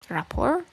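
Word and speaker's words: rapport: It's report. You don't you don't pronounce the T. Oh, Rapour.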